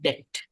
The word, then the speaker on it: debt: is Dea DEA DBT B is silent debt no debt most